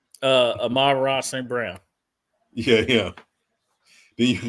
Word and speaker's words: Amon-Ra: Yeah, Amon-Ra St. Brown. I always think of you remember He-Man and Mum-Ra? Mum-Ra. So that's what I always think of when I say his name.